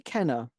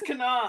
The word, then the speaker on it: Kana: Kenna? That's just so human. No, it's Kana.